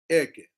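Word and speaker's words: אהיה: We have heard the name and we read the name Eke. What is Eke? Eke is spelled Aleph, Hey, Yud, Hey. It's called Eke.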